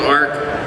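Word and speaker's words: ARQ: I did a Netflix movie called Ark. It's spelled A-R-Q.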